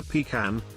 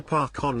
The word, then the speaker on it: pecan: It's not a pecan. A pecan is a porter potty. What? It's a park on linkxy jib.